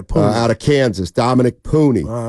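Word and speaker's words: Puni: you're being uh honest 510 says it's pronounced puny it's an Islander name puny thank you very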